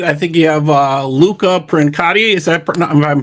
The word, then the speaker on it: Princiotta: It's Princiotta Luca Princiotta.